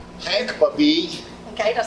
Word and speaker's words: Babij: what's your name hank puppy okay don't spell your last name for me e-a-b-i-j okay the j is kind of silent well they don't pronounce